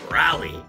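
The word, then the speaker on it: Raleigh: the capital of North Carolina is but we pronounce it rally Believe It or Not North Carolina is the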